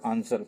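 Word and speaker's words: answer: आंसर जब आप बोलते हो तो ए एन एस ई आर सब आता है बट डब्ल्यू नहीं आता है।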